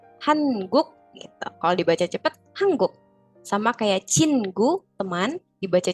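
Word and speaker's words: 한국: juga jadi hangguknya juga jadi hangguk ya sem betul karena n ketemu G Ya bukan hangguk hangguk gitu walaupun ee teman-teman akan mungkin Mendengar orang Korea nyebutnya hanguk gitu ya berarti mereka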